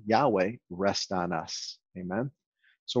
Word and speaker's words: Yahweh: I say Yahweh. I believe that is the correct pronunciation. And so that's what I use. Amen. Yevarechecha Yahweh ve'ishmerecha.